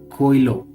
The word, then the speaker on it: Coelho: and you know how Indians are good at pronouncing Spanish names. It's called Coelho.